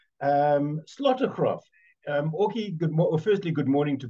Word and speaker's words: Slotegraaf: particular book that's in glass and orky um slaughtercraft um firstly good morning to both of you and am I pronouncing your names correctly perfectly thank you good